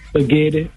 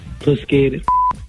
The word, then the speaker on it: spaghetti: Spaghetti, but they be pronouncing it Pusketti.